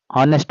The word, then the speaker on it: honest: Next one is dash honest man. He is an honest man. Here in the word honest the letter H is silent that's why we have to use article an.